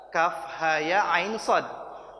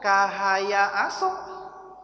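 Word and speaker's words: كهيعص: lain Surah Maryam ada Kaf ha ya ain Shad kalau yang enggak ngaji bacanya k ya aso harusnya Kaf ha ya ain nah ini menjadi penting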